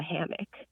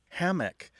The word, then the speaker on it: hammock: Hammock tends to have a stress on the first syllable, where hammock tends to have a stress on the second syllable.